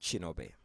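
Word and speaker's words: Kinobe: that uh so um my name is chinobi with a k k i n o b e in my home country Ki is pronounced as a chi uh so each time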